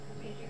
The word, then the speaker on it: Repetier: How do you pronounce that? Repeater? Repeater. You're asking me, Repeater. Yeah, Repeater. Okay, well, it wasn't Repetier.